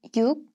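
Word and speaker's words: 육: position in the word the number six is pronounced as you in word initial position and is look when it follows a vowel real or other consonants according to the rules of assimilation luke becomes nuke after consonants except for rior so 16 is pronounced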